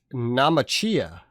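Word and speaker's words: Naumachia: A Namachia.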